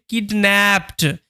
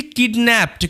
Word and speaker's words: kidnapped: story যার title হচ্ছে কিডন্যাপড এখানে যে কিডন্যাপড শব্দটা তোমরা দেখতে পাচ্ছ এখানে কিন্তু আমি ইডির শুধুমাত্র ডি এর উচ্চারণ করছি ই এর উচ্চারণ কিন্তু করছি না সাধারণত যখন তোমরা শব্দের